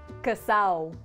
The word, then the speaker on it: casado: Dominican Spanish is that the D is silent in words that end in ado or ada, ido or ida, and edo or eda, making them sound completely different. For example, the word casado is pronounced casao, dedo